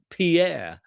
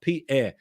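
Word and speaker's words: פאר: in hebrew is pronounced pierre and it's not the french name pierre but it's a hebrew word which is p apostrophe e r p air and it refers to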